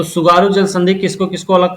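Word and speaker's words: 津軽: Hokkaido और Honshu के बीच में जल संधि है कोई, उसका सुगारू नाम जल संधि।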